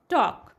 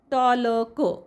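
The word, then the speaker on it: talk: L silent आहे वॉक वॉक मध्ये ल चा उच्चार करत नाही आपण वॉलक वॉलक असं म्हणत नाही आपण वॉक टॉक टॉलक असं वाचत नाही तर टॉक वॉक मग आता हे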